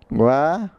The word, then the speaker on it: guaraná: Guaraná. A letra U é pronunciada.